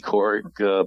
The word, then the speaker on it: Kourik: Sounds like Katie Couric, but she misspells it.